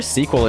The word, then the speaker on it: SQL: throw that pronounce the pronunciation of SQL I hear sequel injection all the time it's a pretty common shorthand from what I understand